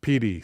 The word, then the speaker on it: Pedy: Pronounced Pedy, says Elderground.